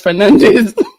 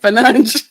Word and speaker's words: Fernandes: Since we're in England, it's Fernandes. When we go to Portugal, it's Fernandes.